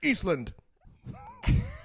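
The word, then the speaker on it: Ísland: Eastland. That's how they say it. Eastland.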